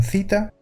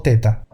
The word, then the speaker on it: θ: Pues depende de qué pronunciación prefieras, la griega moderna o la antigua, que castellanizado suenan cita o teta.